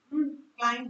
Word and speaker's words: climb: Climb both नहीं होता, याद रखना। No, there's B silent, but it is silent। It's climb।